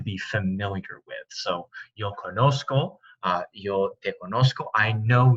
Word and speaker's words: conozco: to the fact that this C that sounds like an S, conocer, would become conozco, or a hard C sound like a K, conozco, which is not, it doesn't match the infinitive. It doesn't sound like the verb that it's supposed to be, so it makes the Z conozco.